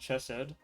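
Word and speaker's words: Chesed: it right yeah okay chessed is pronounced chessed my friend disagrees with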